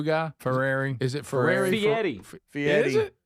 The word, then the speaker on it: Fieri: Fieri. Fieri. Is it? It's Guy not Fieri. It's not I don't know what his Fieri.